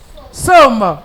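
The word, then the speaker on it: psaumes: Alors, somme s'écrit P. S. A. U. M. E. S. C'est comme ça on écrit somme.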